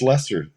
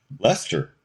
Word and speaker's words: Leicester: this street Lester Street and I went that's pronounced Lester Lester whoa okay that's the name of the band